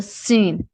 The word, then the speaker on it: س: سین سین سین, سین میں جو ہے سیٹی کی آواز لازمی آنی چاہیے.